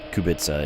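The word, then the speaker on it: Kubica: Yeah, I think Kubitza Kubitza is the correct way to pronounce his name.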